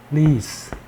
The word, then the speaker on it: wreath: 이게 wreath라는 거예요. 이 R 앞에 W 묵음이고요. 이게 장음으로 발음되죠. 리스.